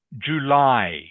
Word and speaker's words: July: by jly 2006 good remember this is pronounced July July July July ding okay good